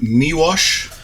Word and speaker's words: Miłosz: You did better than I would have, that's Miłosz, for sure. Yeah, it sounds like a W, but it's spelled it's an L with a cross to it.